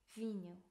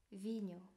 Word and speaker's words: vinho: 물, 아구아, 와인, 비뉴, 비뉴. 여기 보면 H를 발음하지 않는데 단어가 H로 시작하는 경우를 제외하고는 발음하지 않아요. 그래서 vinho라고 발음을 해주시면 됩니다.